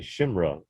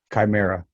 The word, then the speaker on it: chimera: of DNA AKA a super soldier or a shimra is the chimera however you want tomato tomatoes c-h-i-m-e-r-a however you want to pronounce it it's up to you well the